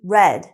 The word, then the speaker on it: read: of the verb so it's actually red read and read are spelled the same she has read that